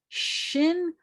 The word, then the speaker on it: shin: i want you to make air come shushing out of your mouth like this that's the sound that you're going to make from air coming out of your uh your teeth because the name of